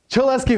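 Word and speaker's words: Cholesky: was this thing called rhymes with molesky yes she'll ask you factorization that's right this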